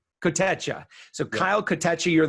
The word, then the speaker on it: Kotecha: How do you spell that? How do you say that again? One more time? Kotecha. Kotecha.